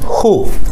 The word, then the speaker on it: hu: Hu, H-U, hu, repetir hu, hu, hu, hu, casi como si dijéramos hu con J, pero sin llegar a pronunciar la J, es decir, como una J muda, hu, hu.